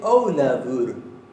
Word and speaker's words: Ólafur: Dice Ólafur. La F la pronuncia casi como si fuera una V, como si fuera una V corta.